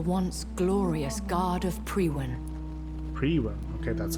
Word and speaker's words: Priwen: Priwen? Okay, that's how you pronounce it.